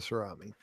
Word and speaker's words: Cerami: I think it's like ceramic without the C on the end, right?